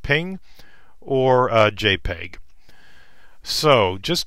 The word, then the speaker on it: PNG: to be a gif a PNG uh usually pronounced ping or uh jpeg so